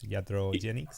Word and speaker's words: iatrogenic: Iatrogenics?